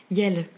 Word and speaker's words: iel: Yel. Yel, ok. Yel qui est un mélange de il et elle, ouais. Qui s'écrit IEL, tout simplement.